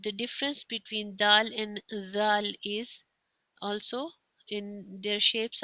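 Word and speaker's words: ذال: And then is the zal. It sound is the touch the top of the tongue to the lower edge of the upper front teeth and then pronounce this the like this.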